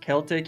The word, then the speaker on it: Celtic: It's pronounced Celtic here in Scotland.